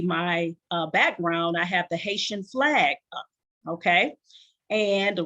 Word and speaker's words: Haiti: book called Hope for Haiti, all right? Or for those of you who pronounce it the correct way, especially my Haitian brothers and sisters, Haiti, all right?